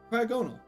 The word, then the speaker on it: Cryogonal: It's pronounced Cryog and no, Cryogonal.